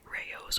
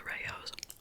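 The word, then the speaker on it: Rao's: had unlimited money to spend, I would buy Rayo's, or however you pronounce it, R-A-O-S, apostrophe S. Because that sauce is really so much better. But it's usually like $7 or $8 for the Rayo's.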